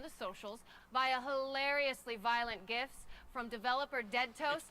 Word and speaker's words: GIF: Acronym's pronunciation is determined by the creator of the said acronym, like a proper name. In this case, the creator of the graphics interchange format, Steve Wilhite, says it's GIFs.